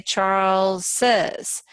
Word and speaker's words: Charles: But when we do Charles, Charles is 1 syllable, but we say Charles says. You have to add another syllable because otherwise you wouldn't be able to show this new sound.